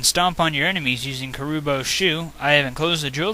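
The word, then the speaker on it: Kuribo's shoe: You can stomp on your enemies using Karubo's shoe. I have enclosed a jewel that helps protect you. Princess Toadstool. I've always pronounced Karubo's shoe Karubi's shoe from the Super Mario Bros. 3 TV show.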